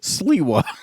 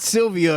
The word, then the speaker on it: Sliwa: So they're basically checking homeless people, and Did you say Sylvia? That's the guy's last name. Sylvia? Sliwa. What's his last? Huh? Sliwa. It's what? His name is Curtis Sliwa. Sliwa. That's how you say it. Sleestack. That's what that says. It's not Sylvia or Silvio. This ain't the Sopranos.